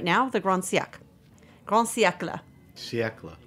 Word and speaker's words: siècle: But siècle, you can actually pronounce all the letters, which is rare in French.